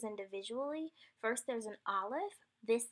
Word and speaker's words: Aleph: This letter has no sound. It's kind of like the stoppage that occurs when you have a silent H. So for example, there's the word air in English. We're not really pronouncing that H. You really don't even know that it's there unless you know how to spell this word. And that's kind of what an Aleph would be like.